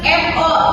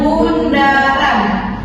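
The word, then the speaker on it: ∘: O ini kita bacanya bukan FO, tapi dibaca dengan bundaran. Ya, bisa dibaca lagi di sana bundaran.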